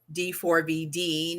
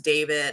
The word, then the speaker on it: D4VD: tarot card reading and I was pronouncing this um David and his um artist name as D4VD, not understanding that it was David.